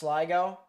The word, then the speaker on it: Segno: There is a little bit of rotation over near Segno and Dallardsville in Texas, pronounced Siggo.